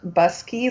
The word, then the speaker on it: Buscke: here today with busky it's pronounced busky like car key bus key is a 1